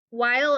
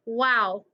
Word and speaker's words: while: the pronunciation so while while is how you pronounce it okay wild wild in texas we do weird things with our vowels so sometimes like i